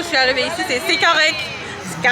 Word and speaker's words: correct: Notez qu'on ne prononce pas le T, on dit pas correct, on dit c'est correct. C'est correct.